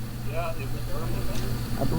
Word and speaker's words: Birmingham: Yeah, it was Birmingham. I believe the Brits pronounce it Birmingham. Yes, that would be the They don't emphasize the H, right?